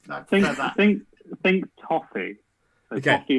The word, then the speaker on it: BOFI: We've answered one, which is how the hell do you pronounce BOFI Racing? You got Okay. it, Toffee Racing.